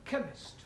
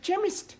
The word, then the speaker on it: chemist: oh yes please spell chemist Oh blame does not begin with a K it sounds like it begins with K see H that is making it chemist well the CH is